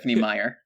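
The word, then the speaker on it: Meyer: can say that oh did I mispronounced that two yeah it's Meer Stephanie Meer also it's braam ster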